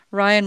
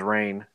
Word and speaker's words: Rian: Ryan was hired to destroy all the IPs created by JJ. Oh, is that how you say his name is Ryan? I thought it was Rain.